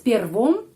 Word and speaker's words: первом: Karena itu первом, menulis первом, tapi bacanya первом. Karena penekanannya di sini pada huruf y.